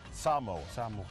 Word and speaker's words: Samoa: Because see, us in the States always go No. Samoa. Yeah. It's Samoa. American Samoa. American Samoa.